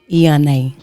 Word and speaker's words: Eonney: How you pronounce E? Okay, it's Superstar Eonney.